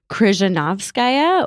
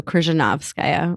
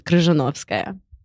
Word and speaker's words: Krishnavskaya: pronounce my name correctly it's krishnavskaya or the accents on the nob so krishnavskaya or if we were saying it in russian it's krishnavskaya all right i got